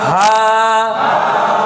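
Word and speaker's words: همزة: করে হলকের মধ্যখান থেকে আর এটা হলকের শুরু থেকে নরম করে হাম হামজা হামজা হামজা হামজা ইয়া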